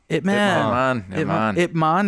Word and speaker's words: Ip Man: Ip Man. That's how you pronounce it? Uh-huh. Ip Man.